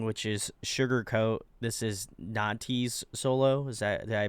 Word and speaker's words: Natty: This is Natty's solo. Is that, did I pronunciate that Yep.